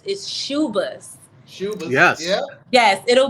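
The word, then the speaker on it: Schubas: It's Shuba's.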